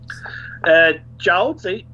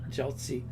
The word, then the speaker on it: Jiaozi: How do you pronounce that one? Jiaozi. Jiaozi.